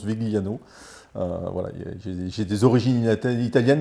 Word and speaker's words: Vigliano: le prononcer à l'italienne alors à l'italienne c'est Viano mais bon je le prononce Vigliano voilà j'ai des origines italiennes mais qui commence